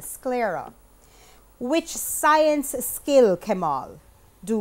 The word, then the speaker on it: sclera: you learnt that's incorrect Gabriel cullera that's correct come on improper pronunciation I'm sorry that means you actually got it incorrect it's the sclera which science skill Kamal